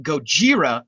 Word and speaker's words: Gojira: has a name in America Godzilla but they pronounce it Gojira the rest of the movie whereas in uh